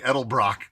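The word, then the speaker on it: Edelbrock: people say Elder Brock I heard Vic edel Brock say edel Brock there you go is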